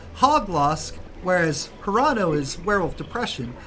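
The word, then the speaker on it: Hauglosk: I'm pronouncing this right hog lost h-a-u-g-l-o-s-k but hog loss whereas hurato is werewolf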